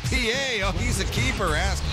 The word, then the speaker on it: Pie: From a shot of Jack to a piece of pie, that's how you spell it, but not how you yell it. It's Felix P.A.